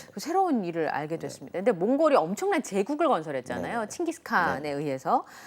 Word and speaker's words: 몽골: 이제 최고의 우두머리랑 몽골 몽골로 불러주는게 맞아요 몽고는 중국 사람들이 그 발음이 안 돼요 한자로 바꿀 때 몸 고로 바꿔 가지고 몽골 일이 자신들이 부르는 이름이니까 그렇게 불러요 근데 몽골이 징기스칸에 의해서